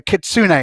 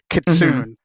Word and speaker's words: kitsune: remember you got like imagine that the E has an accent on the end that's how I was think about it so it's it's it's a a Kitsune instead of kitun um and so on